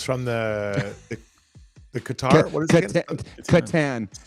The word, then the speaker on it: Catan: the the Qatar what Katan Katan spelled with a c strs you think you're